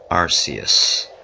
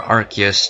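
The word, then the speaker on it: Arceus: the one and only arus or archus depending on how you want to pronounce it I like the Japanese pronunciation better now arus is the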